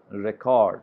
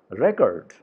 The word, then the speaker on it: record: For example, verb, record, record, record. I mean, it's a ka sound where the stress is there. But in case of noun, record, record, here the stress is on ra sound.